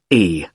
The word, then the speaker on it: Carlisle: It's Carlisle. You don't pronounce the S.